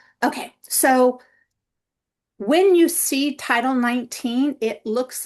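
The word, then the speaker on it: Title XIX: So when you see title 19 it looks like and people sometimes try to pronounce texics or something. It's it's a t for title and then it's Roman numerals x iix which is 19.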